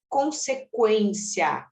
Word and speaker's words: consequência: for pronunciado por exemplo uma palavra como consequência esse cência ele não é dígrafo por quê Porque o u é pronunciado então outra palavra como